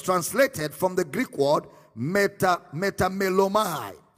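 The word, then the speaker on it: μεταμέλομαι: It was translated from the Greek word metamelomai. Metamelomai. It is spelled as M-E-T-A-M-E-L-L-O-M-A-I.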